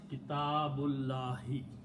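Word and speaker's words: كِتَابُ اللَّهِ: small swad on it, which means do not pronounce that alif. So the word is Kitabullahi.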